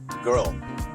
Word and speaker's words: girl: 되게 하기 어려운 단어입니다 대부분이 발음을 하게 되면 걸 걸 걸 여기 발음을 하게 되는데 rl를 붙여서 발음을 해주면 걸이 아니라 girl L 그고 빠르게 붙이면 girl girl girl 요렇게 발음을 해 주시면 되겠습니다 두 번째로 세 개